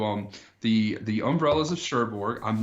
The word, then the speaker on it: Cherbourg: right that is correct um means that is how you pronounce it Cherbourg something like that oh sure probably not as it's French but yeah umbrellas of Cherbourg is what I'm gonna go with my sherbert some very